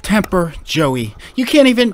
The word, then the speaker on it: TMPR: about this great company it's pronounced temper joey you can't even